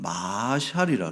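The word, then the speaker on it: משל: 같이 붙어 가지고 그래서 마샬 그리고 끝에 자르게 엘 발음이 나는 거예요 마샬에서 이것을 이제 잠언 잠언의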